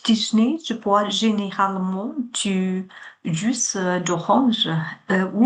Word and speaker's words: jus: Avec mon petit déjeuner, je bois généralement du jus d'orange ou Jus d'orange. S 是不发音的 jus d'orange ou du multifruit.